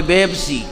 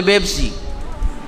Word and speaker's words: পেপসি: নাই এজন্য দেখেন না আরবরা পেপসি বলতে পারে না বলে বেপসি আরবরা বলে পেপসি ঠিক আছে কিনা ওদের